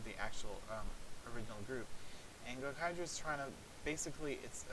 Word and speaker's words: Gokaiger: In the line, if you ever see Gokaiger online, which I think I'm pronouncing it a little long. Yeah, it's Gokaiger.